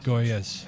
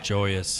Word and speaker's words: Joyas: Goyas. Joyas. Joy. Yeah. Like a J.